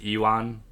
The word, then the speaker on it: Ivan: Ivan, okay. So you pronounce the V in the English version. In Japanese, his name is Iwan.